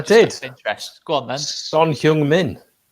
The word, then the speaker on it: Son Heung-min: Son Heung-min. It's not much different to what I said anyway. Just you said human son.